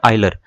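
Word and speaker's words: Euler: जो है ये वो इनका नाम की स्पेलिंग यूलर है लेकिन यूलर नहीं है इनका असली नाम इनका असली नाम है आइलर ठीक है हिंदी में पढ़ेंगे तो ऐसे पढ़ेंगे आइलर इसको ठीक है तो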